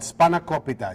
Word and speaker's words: spanakopita: Now, how did you pronounce that? Spanakopita.